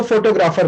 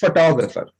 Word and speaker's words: photographer: सो बहुत से लोग हाँ, इसको फोटोग्राफर बोलते हैं, बट the real pronunciation of this word is फोटोग्राफर। फोटोग्राफर हाँ, मैं बोल रहा हूं फोटोग्राफर।